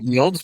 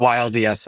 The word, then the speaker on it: YLDS: Well, since you mentioned stablecoin, let's talk about your YLDS, your Yields stable Yeah, we we pronounce it Yields, but YLDS also works.